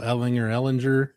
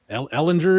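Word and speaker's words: Ehlinger: He's like, all right, then it's Ellinger. I'm like, okay. Ellinger is dead. It's Ellinger, and I'll correct everybody from now on.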